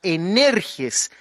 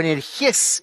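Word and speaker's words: ἐνεργής: es la palabra energes, eh, o energj en el griego, porque se acentúa en la última sílaba cuando se translitera y la idea está llena de poder precisamente para conseguir resultados.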